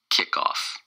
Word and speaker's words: kickoff: the day is kickoff kick-off kickoff kickoff it's two syllables and the stress is on the first syllable kick off kick off